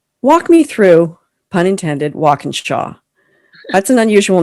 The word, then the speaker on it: Walkinshaw: But I'm like, phonetically, it is exactly how it looks. Like, it's walk, like the action, in like the preposition, Shaw, like Shawshank Redemption, walk in Shaw.